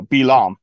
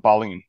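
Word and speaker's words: Balaam: double check here if the pronunciation is oh belam not balim belam so he went to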